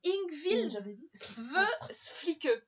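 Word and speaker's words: Yngvild Sve Flikke: à le prononcer. C'est Ingvild Sveflike.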